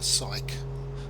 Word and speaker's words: Syke: Now we've got the Jopla Syke just on our left there. Syke, incidentally, is spelled S-I-K-E, not P-S-Y-C-H-E or anything like that.